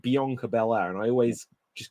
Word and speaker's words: Bianca: How do you pronounce it? Bianca or Bianca?